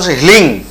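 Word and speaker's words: হ্লীং: বীজ মন্ত্রণটা যখন করা হয় উচ্চারণটা কি করা হয় মা বগলার যেটা উচ্চারণ হিলিং হয় লয় দীর্ঘ অনেস্টা অনেকে ভুল করে রিং করেন হিং করেন মন্ত্র একদম বাড়িতে উচ্চারণ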